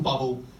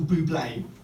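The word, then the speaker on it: Bublé: least potential so okay on this occasion I said Michael bubble and it was actually Michael Buble and I sounded a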